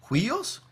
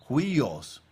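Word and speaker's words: υἱός: Y hay una palabra aquí que se pronuncia como huios. Huios.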